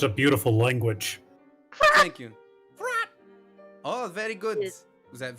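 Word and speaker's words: F'rraatt: all crap frat uh in my own tongue it is pronounced as fla but i don't expect you to use the erika graton it is frat uh it is but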